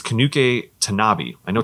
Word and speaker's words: Tanabe: a programmer named um i think it's kanuke tanabe i know tanabe is how you pronounce the gentleman's last name tanuke kanabi and